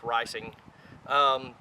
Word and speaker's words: Reising: made on Eugene risings Patton and it is pronounced ricing this was the trainer for the model 50